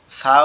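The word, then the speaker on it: ث: সা অক্ষর হচ্ছে আমাদের জিহ্বার আগা, সামনের উপরের দুই দাঁতের আগের সঙ্গে লাগায়া উচ্চারণ করতে হবে কিভাবে? সা, সা, সা, সা, সা।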